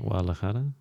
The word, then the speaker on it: Guadalajara: Guadalajara. No, hold on. Say it louder. I can't hear you. Guadalajara. You're not saying "g." You're saying "wada."